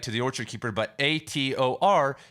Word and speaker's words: Hathor: the orchard keeper but Ator is also can translate to Hawthorne because a lot in a lot of languages the H is silent or doesn't even exist and that's the Egyptian